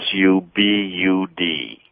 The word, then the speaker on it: Subud: they're often called a sect which is a Subud Su b u d that's how that's pronounced as well I've been Su sub like